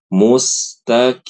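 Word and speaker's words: المستقيم: Lalu yang kedua pada kata almustaqim yang paling penting huruf qofnya jangan diubah jadi kaf mustaqim begitu bukan mustaqim. Mustaqim ini salah. Mustaqim ini sa salah ya, Ibu-ibu ya.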